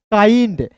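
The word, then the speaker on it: kind: देखिए दोस्तों यहाँ पे के का क लिखिएगा, आई एन डी है तो इसका उच्चारण आइंड के रूप में करेंगे तो क्या हो जाएगा दोस्तों? काइंड। उसके बाद देखिए दोस्तों यहाँ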